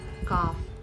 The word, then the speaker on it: calf: L becomes silent or is not pronounced when it comes after the vowels like A, O, and U in a word. L is not pronounced when it comes after the vowels like A, O, and U in a word. Example words are like should, could, have, calf, all those.